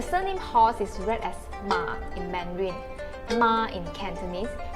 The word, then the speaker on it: Ma: me explain the surname horse is read as ma in mandarin ma in cantonese and ma in